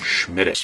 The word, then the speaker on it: Smithwick's: Bono immediately proceeded to tell me, No, you must use the Gaelic pronunciation for this beer. it's pronounced Schmiddix. Schmiddix.